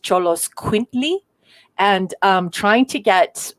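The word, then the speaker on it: Xoloitzcuintli: the the mexican dogs are that it's actually pronounced cholos quintly and um trying to get a north americans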